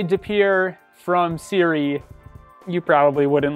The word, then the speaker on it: De Pere: municipality which is the city of de pere as we say it here de pere that is also a french influence and let's see how